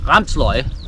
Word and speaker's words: Ramsløg: some nordic garlic which here in denmark is pronounced ramsloy it's a it's a